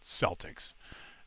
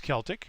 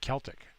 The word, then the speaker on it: Celtic: I know it's Celtic with a hard C sound like, you know, car catastrophe. I know all about that. So I pronounce it Celtic.